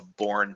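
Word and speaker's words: Bourne: And the main shell that people used in Unix for a long time was called the Born shell, and that's spelled like Born Identity, B-O-U-R-N-E.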